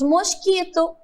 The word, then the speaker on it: mosquito: Nós falamos mosquito, mas é escrito com O e tem som de U.